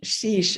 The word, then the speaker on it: Chiche: it's hard to pronounce it's like s's and f's and shish's and it's like a lot of work and so think of it as like s h e e e like that's what